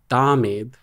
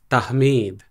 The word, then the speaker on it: Tahmeed: call me like Tahmeed, which actually is not even the Arabic pronunciation of my name. So what's the correct way to say your name then? I think like Arabically is that word. I don't know. Arabically, yeah. It's Tahmeed. Yeah, it's actually Tahmeed.